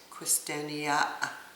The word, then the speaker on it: Quistania: It was Quistania with a like you're just about ready to jump and hit a mud puddle, they go, ah!